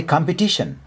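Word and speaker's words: competition: अनि कम्पिटिसन कम्पिटिसन भन्दा खेरि यहाँ टमा स्ट्रेस लाउने है बोल्दा खेरि।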